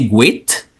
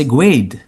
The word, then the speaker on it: great: Il n'est pas prononcé great, malgré Great. à la fin, il prononce grade.